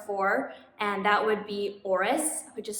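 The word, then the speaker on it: Oris: that i worked for and that would be auris which is spelled o-r-i-s so there's swiss watch brand with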